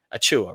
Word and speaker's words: Achiuwa: I thought we were done with him, and now I didn't have to pronounce his name anymore. But Precious Achiuwa, right?